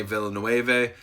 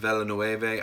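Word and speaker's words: Villeneuve: dune remake by Danny Villanueva I probably just butchered his name Danny Bella no Ava I think is how you say it but his movie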